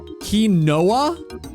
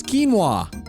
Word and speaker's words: quinoa: Kinoa. Uh, more like Kinoa way. It's pronounced that way. It's quinoa. Quinoa. Wait.